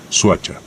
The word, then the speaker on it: Soacha: detrás del nombre suacha o como se pronunciaba originalmente suacha palabra compuesta proveniente del